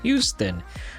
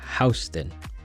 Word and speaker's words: Houston: I always thought it was pronounced Houston, but I guess here they pronounce it Houston.